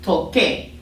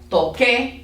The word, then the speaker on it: toque: So like, but it doesn't make like a qua sound like what we think in English. It really just most of the time just makes a hard C sound. So an example, and again you'll see it with a QU would be like the word toque, like it's the K.